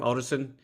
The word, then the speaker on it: Otterson: Is it Otterson? Is that how you pronounce his last name? Otterson? yeah, Okay. Michael Oldison, I Michael think. Otterson, yeah.